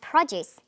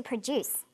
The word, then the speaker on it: produce: are lots of others we have produce that you eat and to produce to make we have subject